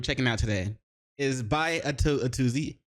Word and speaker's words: Atozy: The video we're gonna be checking out today is by Atozy. A to Z. I'm pretty sure that's how you're supposed to pronounce it.